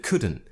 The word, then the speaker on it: couldn't: But I couldn't, I didn't pronounce the T at the end of couldn't. Again, because it's more natural for me. But it's up to you. You could pronounce the T if you wanted to.